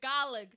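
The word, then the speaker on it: Gaeilge: Because you guys have Gaelic, the Irish technically pronounce it Gaelig, but they just call it Irish.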